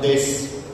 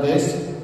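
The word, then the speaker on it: です: Because in Japanese the last SU is pronounced S. So that's why it is shimasu. It's not shimasu or desu.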